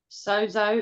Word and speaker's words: sozo: The Greek word sozo, is I'm pronouncing that correctly? That's perfect. Perfect.